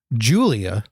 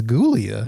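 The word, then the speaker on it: Giulia: It's spelled with a G, which I I They say it's Julia, but I'm like it's Gulia.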